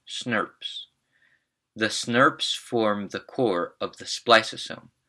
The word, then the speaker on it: snRNP: snRNPs, pronounced SNRPs.